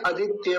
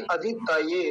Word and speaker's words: अदितये: अदितये, अदितये, कुछ लोग क्या बोलते हैं? आदित्य बोल देते हैं, आदित्य, आदित्य नहीं, अदितये।